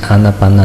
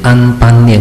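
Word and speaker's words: 阿那巴那: 译的话，你就直接翻译成阿那巴那，你就不要念成安般念或者安波念啊，这个是不对的，错误的说法。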